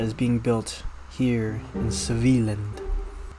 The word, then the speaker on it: Svealand: Just a few weeks later, the first IKEA was built in Svealand. Yes, I learned that's how you pronounce it.